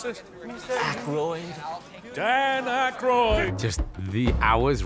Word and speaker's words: Aykroyd: Chevy Chase, Gilda Radner, Dan how the fuck do you pronounce this? Aykroyd.